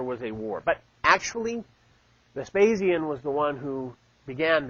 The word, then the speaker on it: Vespasian: I always mispronounce his name. Vespasian. Thank you. I was going to say Vesparian. It's not right.